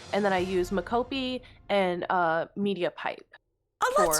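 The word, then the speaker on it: mocopi: And Big Ham is the mocap the expert, or Mokopi. Sorry, how do you say the full body? Makopi.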